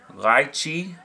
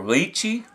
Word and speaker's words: lychee: First one I'm going to do is going to be called Lychee Delight, or Lychee. I believe it's pronounced both ways.